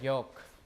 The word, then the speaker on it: yolk: How do you pronounce the word yolk? Do you pronounce the L or not?